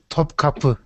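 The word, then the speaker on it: Topkapı: Topkapi.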